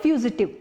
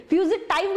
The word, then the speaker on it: fugitive: फ्यूजिटाइव मत बोलिए, फ्यूजिटिव बोलिए, FUGITIVE।